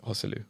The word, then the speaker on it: Joselu: have a question for you how do you pronounce joselu hu's name hosu hosu yeah okay he honestly because I I